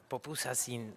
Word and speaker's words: pupusas: So we have these pupusas and we chat for quite a long time. Am I saying it right? Sí, ¿no? Pupusas. Ah, muy bien.